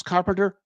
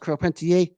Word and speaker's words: Carpentier: Georges Carpenter. You can, or it's pronounced Carpentier. I'm not good at my French.